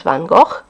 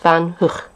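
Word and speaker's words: van Gogh: a painter who I've always referred to as van go but apparently it should be pronounced van H so uh if you're Dutch I hope I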